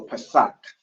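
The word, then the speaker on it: פסח: So it's a ka at the end, so Pesach.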